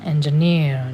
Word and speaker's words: engineer: Bacanya harus gitu ya, engineer. Jadi membaca occupation or job juga ada penekanannya ya.